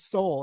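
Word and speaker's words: Soule: Charles SLE oh okay well it's got the E on it and I don't know why and I even like people I knew I knew that it was soul and I like watched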